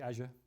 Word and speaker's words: Azure: you can go to Azure or Azure or you like to pronounce it I I say Azure um and you can